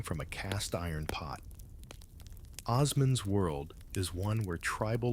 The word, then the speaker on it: Osman: That's Osman with a soft S, which you will inevitably mispronounce as Osman like a medieval rockstar.